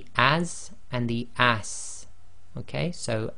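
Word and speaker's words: ص: So it's like the seen as in as, but you've got to make it the thick version. So say it the same way, but lift the back of the tongue and make the mouth a little bit more full.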